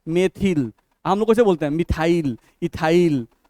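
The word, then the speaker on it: methyl: जैसे स3 क्या है मिथाइल नहीं एक्चुअली इसका उच्चारण क्या है मेथिल हम लोसे बोलते मिथाइल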